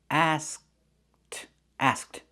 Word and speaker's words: asked: We make the position of the K but we don't release it. Asked asked.